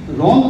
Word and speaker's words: wrong: जब हम रॉन्ग बोलते हैं तो सबसे पहले हम शब्द लिखते हैं, तो वर्णमाला से वर्ड लिखते हैं WRONG, बट हम जब प्रोनाउंस उच्चारण करते हैं तब जाके वो वर्ड्स हम नहीं बोलते।